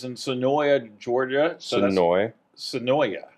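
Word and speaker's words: Suwanee: it's in sooya Georgia sooya is sooi is how they pronounce it I believe I'm gonna say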